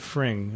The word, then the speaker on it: Fring: Fring. I think it's I think. Frayne. Is it Fring or It's Frayne? It's like fringe, but you pronounce it Fring, I think.